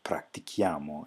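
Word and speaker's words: pratichiamo: So in both of these cases, you just add in an H, and then it's pronounced tu practici and noi practichiamo, and see how that conserves the hard C of the practicare.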